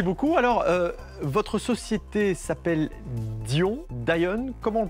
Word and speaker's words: Dy'on: Alors, votre société s'appelle Dion, comment on le prononce? Dion, ça me va très très bien. Après, les anglophones peuvent dire Dion, ça me va très bien aussi.